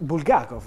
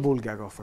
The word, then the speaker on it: Bulgakov: dicevo kev aello tutto così perché andrebbe fatto bulgakov ad esempio si dice e non bulgakov come spesso pronunciamo il do del Maestro e Margherita è